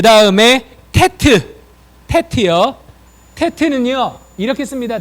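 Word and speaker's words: טית: 그 다음에 테트. 테트요. 테트는요. 이렇게 씁니다. 잘 보셔야 돼요. 자, 밑에서 이렇게 씁니다. 테트. 뭐 그냥 이렇게 쓰셔도 되고요. 또는 이렇게 해서 이렇게 쓰시면 돼요. 테트. 테트. 발음은 티귿 발음이야.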